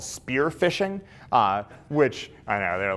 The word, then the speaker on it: phishing: are what are called phishing emails it's like you're officially except they spell it with a pH because hackers are cute it's like you're fishing for something those are phishing emails